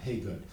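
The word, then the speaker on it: Hagood: a singer i think his last name is pronounced uh hey good kenny haygood and um i remember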